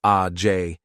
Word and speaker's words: Age: Now, at 18, Sage had 2 sisters named Age, pronounced A-J, and Lage, pronounced La-J Smith, and 2 brothers named Fremonte, pronounced Free-Emonte, and Tremonte, pronounced Tree-Emonte, Jones.